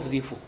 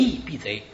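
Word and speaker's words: 赤壁赋: 赤壁赋后赤壁赋，把前赤壁赋念成前翼避贼，把后赤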